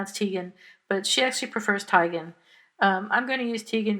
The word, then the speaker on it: Teigen: about endlessly yeah right nothing and uh Chrissy Tan's apology to her and now Chrissy Tan's name is pronounced widely pronounced tan but she actually prefers tigan I'm going to use Tegan because that's how